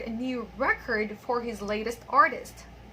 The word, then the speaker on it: record: Number seven, the producer wanted to record a new record for his latest artist. Okay, so the first one there is a verb, and the second one is a noun.